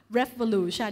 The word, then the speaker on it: Revolution: กลาย เป็น RE ค่ะ แต่ เรา ไม่ อ่าน RE นะ อ่าน ว่า ref ref อะไร คะ Revolution พูด พร้อม กัน ref อะไร Revolution สิ่ง นี้ ก็ ก่อ